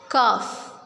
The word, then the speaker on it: calf: We will not pronounce L in it. Half. Calf. Walk. See, we are not pronouncing L because L is silent.